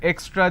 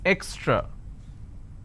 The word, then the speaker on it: extra: this is the word if i have to break it for your quick understanding it's eck straw it's extra now what